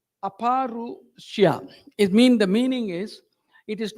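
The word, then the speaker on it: अपौरुषेय: Actually, exact pronunciation is Abharushya. Aparushya.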